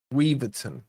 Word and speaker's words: Weverton: And then Gay plays it back all the way to Weverton. Weverton, I think is the correct pronunciation.